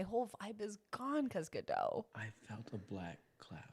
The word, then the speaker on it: Godot: his name sucks yeah don't pronounce the t you